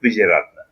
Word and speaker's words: Weeraratne: It's Untitled Weeraratne. All right, and I just call him Yuta because I can pronounce that, and he goes with it for me because he's nice like that.